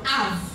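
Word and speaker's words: אב: Ab, et le bête, là, on le prononce V. Donc Av.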